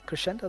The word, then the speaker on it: Krescendo: Am I saying it right or wrong? Cresendo or Crescendo? Yeah, Crescendo. That's totally fine.